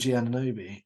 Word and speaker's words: Anunoby: It's going to be how do you pronounce his? Great, appreciate it. How do you say OG Anunoby? OG Anunoby.